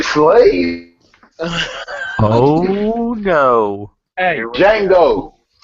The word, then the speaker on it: Django: Hey, Django. The D is silent, motherfucker.